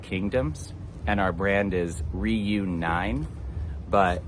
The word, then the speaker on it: Ryu9: So Okinawa used to be called the Ryuku Kingdoms, and our brand is Ryu9, but in Nine is Japanese, you pronounce 9 as Q.